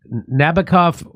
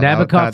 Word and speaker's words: Nabokov: The tricked-out jet earned its Nabokov... What is that? Am I pronouncing that correct? Yeah. Nabokov inspired the author of Lolita.